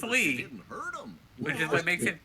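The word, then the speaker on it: Lea: so it's like really awkward no it's just pronounced Le which is what makes it weird was that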